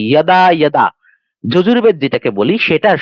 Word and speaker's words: যদা: এই জন্য যেরকম শ্রীমদ ভগবত গীতা 4র্থ অধ্যায় 7ম শ্লোকের ক্ষেত্রে যদা যদা আমরা যেটাকে বলি সেটার উচ্চারণ হবে কি? ইয়দা, ইয়দা।